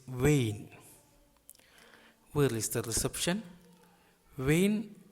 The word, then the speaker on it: أين: Its pronunciation is Vain.